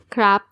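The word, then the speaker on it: ครับ: There's only one way of pronouncing the polite particle crap.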